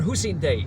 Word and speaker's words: Hussein Dey: New Day Hotel, and it's in fact named after Hussein Day.